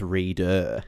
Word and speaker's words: Reeder: Well, you have to extend the read by two more characters because it's reader.